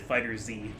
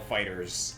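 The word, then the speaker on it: FighterZ: I always pronounce it Fighter Z. That's what I thought at first, but no, I've been corrected so many times. Apparently, it's Dragon Ball Fighters.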